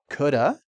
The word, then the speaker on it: could have: Next: "could have" can be pronounced as "coulda".